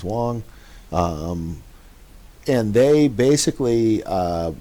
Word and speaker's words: Wang: article there from uh Wang at all um actually usually pronounced in China is Wong um and they basically